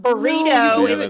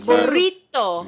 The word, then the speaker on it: burrito: to pronounce things correctly it's not burrito burrito yeah you know I